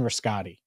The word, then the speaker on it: Rascati: Well, they announced the hiring of Justin Rascati, R-A-S-C-A-T-I, Rascati.